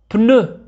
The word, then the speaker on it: pneu: الحرفان P و H ينطقان ف. Un phare. Un phare. PN. PN. Un pneu.